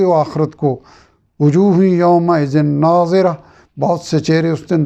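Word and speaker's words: ناضرة: سے بہت اہم ہے۔ پہلے ناظرہ ضاد کے ساتھ ہے اور دوسرا ناظرہ زوا یعنی زوئے کے ساتھ ہے۔ دونوں کے معنی،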